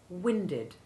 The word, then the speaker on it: winded: forget that the past tense of the verb wind with short eye one is similarly winded someone is said to